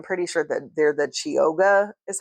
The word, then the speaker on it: Chioggia: stripe, but I'm pretty sure that they're the Chioggia is how you say it beets.